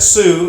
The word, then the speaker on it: Sioux: here the Sioux Indians that you pronounce that Sioux it's SiO UX the Sioux Indian where